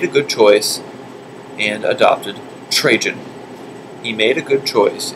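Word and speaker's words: Trajan: F he made a good choice and adopted trun he made a good choice and adopted trun trun is spelled right below t r a j an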